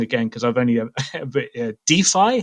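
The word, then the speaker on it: DeFi: pronounce something wrong again because i've only uh defy how we pronounce it d5 yeah decentralized finance that's good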